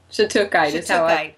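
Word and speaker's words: shattuckite: Okay, how do we pronounce it? Is it shadakite or shiukite? Shhatukite. Okay. Shitukite.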